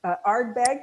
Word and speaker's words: Ardbeg: a brand ambassador for mie um and arbe Ardbeg is that how you say it perfectly yes